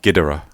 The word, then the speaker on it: Ghidorah: No, Ghidorah. Ghidorah. No, Ghidorah. The original Japanese pronunciation is Ghidorah, not Ghidorah. That's the American.